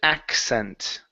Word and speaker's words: accent: Okay, so the first one is going to be a K sound. The next one is going to be like a double S. So it's accent, accent.